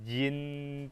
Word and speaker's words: 今: sini t, di sini j, jadi kita baca jin tian gitu. Nah, di sini cara bacanya yang benar adalah ji di sini dibaca ci, oke?